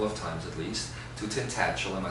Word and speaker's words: Tintagel: times at least, to Tintagel. Am I saying it correctly? I used to say Tintagel, but that seems like a gel you put in your hair. Tintagel. Tintagel.